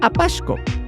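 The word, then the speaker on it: Apaxco: mexicana de cemento Portland Apasco sí Quizá no se entienda bien pero Apasco es un pueblo en el Estado de Hidalgo y se escribe con x y que durante muchos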